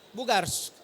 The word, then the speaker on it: Bugarx: Oke, jadi itu teman-teman menarik sekali solusi dari Bugars ya, dari Lumiverse. Jadi bacanya kayak gitu.